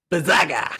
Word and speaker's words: Blizzaga: You got to say it right. Blizzaga.